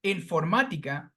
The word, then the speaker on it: informática: The same goes with this very long word, informática, that has 5 syllables. However, the sound falls on the third syllable before the end.